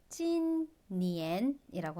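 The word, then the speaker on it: 今年: 올해는 찐니엔이라고 합니다.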